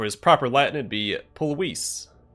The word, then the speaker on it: Pulvis: Or for his proper Latin, it'd be Pulvis. Because V's in Latin have a W sound.